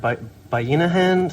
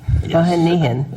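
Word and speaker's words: Bayanihan: I'm sorry, I always mispronounce this word. Bayinahan Center? Thank you. Bahanihan? Yes. Bahanihan.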